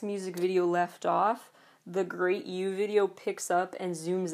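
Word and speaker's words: Gr8U: next video basically was well I say great you honestly some people say it differently it's spelled gr R number eight letter U but great youu that video starts with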